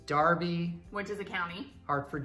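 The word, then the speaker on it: Derby: any sense to me these er ones so there's Darby where does the County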